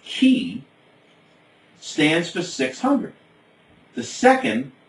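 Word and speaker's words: chi: by the following letters the first CH I pronounced key stands for 600 the second a big X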